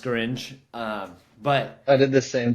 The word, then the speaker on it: Scaringe: I'm pretty sure I butchered his name. Scaringe. I call him I used to call him Scarnage, and then I actually read it because I